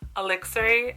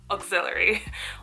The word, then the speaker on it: Elixir: As it turns out, this brand is pronounced Elixir, not auxiliary, like an auxiliary cord.